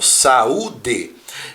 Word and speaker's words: saúde: na hora da pronúncia Veja por exemplo a palavra saúde Eu tenho um encontro de duas vogais aqui ó a e o mas eu não falo saúde eu falo saúde e acontece aqui na pronúncia still se separa do ar formando uma abertura que é o que nós chamamos de i.a.